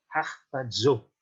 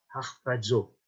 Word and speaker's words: harpazo: Donc vous avez un mot en grec, c'est harpazo. Harpazo. Alors ce mot est un mot un petit peu particulier, ça s'écrit H-A-R-P-A-Z-O.